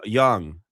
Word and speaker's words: Jung: J- Young Oh, yeah. It's spelled like Jung, which I still don't